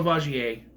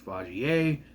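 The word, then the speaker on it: Vaugier: I'm sure she would put on some kind of sob, facade, but Emmanuel Vagier, which I've been pronouncing wrong the entire time, it's Vagier.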